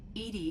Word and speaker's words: EDI: is a jar why are you named Ed Ed is the phonetic pronunciation of EDI that is an acronym for